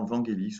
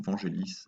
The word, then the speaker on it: Vangelis: a été réalisée par Vangelis ou Vangelis, vous pouvez le prononcer comme vous le souhaitez.